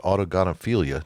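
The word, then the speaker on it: autogynephilia: But on the flip side, there's also something called, I believe you said autogonophilia. Did I pronounce that correctly?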